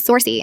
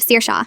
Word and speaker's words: Saoirse: Saoirse who becomes Sorcy instead of Saoirse.